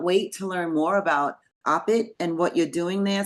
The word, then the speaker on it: OPIT: are the founder and the director of opit or do you pronounce it opit it's no it's opit it's open Institute of